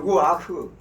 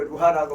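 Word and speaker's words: רוּחַ: 성령을 히브리어로 루아흐 그리고 루하라고 발음을 하는데 헬라어로는 푸뉴마라고 합니다.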